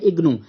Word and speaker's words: IGNOU: So first क्या लिखा है IGNOU, इसको हम रीड करते हैं, प्रोनाउंसिएशन करते हैं इग्नू।